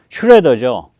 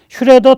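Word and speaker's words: Schröder: 거죠이 길에 들어서게 만든 거는 슈레더죠 정책을 굳혀서 노르트 스트림 1호선을 결정을 하기 슈뢰더입니다 그리고 올해 초에 러시아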